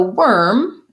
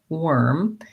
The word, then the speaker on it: worm: So frustrating, the spelling here, because worm has the letters OR, but the sound ER. Warm has the letters AR, but the sound OR. So no wonder they're tough. So worm, if I think about